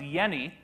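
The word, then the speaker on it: Jenny: Hans yeni even though there's a J in his name you pronounce it without the J sound like a why and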